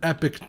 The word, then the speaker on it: Epoch: and yes it's pronounced epic I know it kind of looks like it's spelled Epoch but it's not I checked epic is